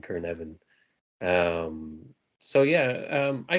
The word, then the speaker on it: Cynefin: means habitat um and the way I pronounce it is kavan like almost like a k r at the beginning kavan um so yeah um